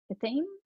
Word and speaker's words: athame: And you said it's a hard A, athem, athame? Athame. Is the hard A at the end of athame.